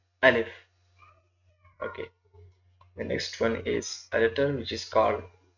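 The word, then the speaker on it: ألف: it can be pronounced Alif. The pronunciation is written down Alif. It doesn't any difficulties and any hurdle. It can be pronounced simple Alif.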